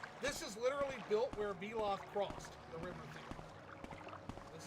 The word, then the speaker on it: Veloth: The Vel in Veloth is pronounced like the Vel in Velvet, by the way.